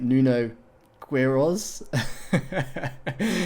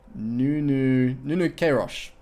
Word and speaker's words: Nuno Queiroz: I was pronouncing it Nuno Queiroz when I did that UK video. He did this one, you might remember, the tritone English desert camo scheme. He told me my pronunciation of his name was god awful. I completely ruined it, and it's more like Nuno Queiroz. We'll go with that, Nuno Queiroz.